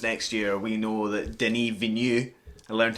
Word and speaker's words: Denis Villeneuve: I mean, whatever happens next year, we know that Denis Villeneuve, I learned how to say his name, will be making at least like 15 films.